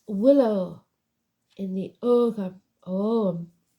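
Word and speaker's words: ogham: Willow in the oh om cuz the G is salad o g h a m om staves the meanings and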